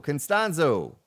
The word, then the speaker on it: Costanzo: Costanzo.